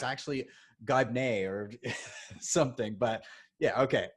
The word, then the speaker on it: Gibney: But it's not that hard to pronounce. Gibney, right? There you go. Yeah. Okay, all right. Because you never know. Somebody might. It's actually Gibney or something.